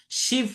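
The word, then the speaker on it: Shiva: শিব temple of Chandrabati এটার নাম পেলাম। দেখো শিবালেখা বাট উচ্চারণটা কিন্তু শিব।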